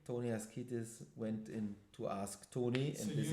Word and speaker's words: Asktoni: Ask Tony.